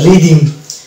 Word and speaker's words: rhythm: Next word হচ্ছে RHYTHM, এই জায়গাটাতে কিন্তু এই এইচ কিন্তু সাইলেন্স থাকছে এবং এখানে হয়ে যাবে রিদিম, RYTHTHA দ ধরবো এবং ম একসঙ্গে টানবো আমরা, দিয়ে এটা হয়ে যাবে রিদিম।